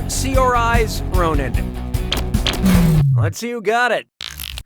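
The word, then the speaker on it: Saoirse Ronan: How do you pronounce uh her name? Cersa Ronin, Sersa Ronin, Seors Ronin, or Sior Ronin?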